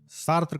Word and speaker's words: Sartre: इनके नाम का सही प्रोनाउंसिएशन है जॉन पॉल सार्त्र, लेकिन जब हम इनके नाम को लिखते हैं तब हम जीन पॉल सार्त्रे लिखते हैं।